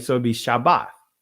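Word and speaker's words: שבת: The Greek pronunciation of Shabbat is Sabbath, or some would say Sabbat, right? Or Sabbath. Right? Nah, family, that's Greek. The ancient pronunciation is Shabbat, right?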